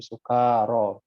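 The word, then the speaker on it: سكارى: Ya ayyuhalladzina amanu la taqrabus sholata wa antum sukara. Itu bacanya sukara, kanya panjang.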